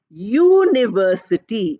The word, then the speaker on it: university: i o u but how are we pronouncing it we are pronouncing it as University year sound we are pronouncing the sound year is a consonant so we say a